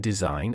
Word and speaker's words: design: For instance, B is silent in plumber and climbing, GN in design and campaign.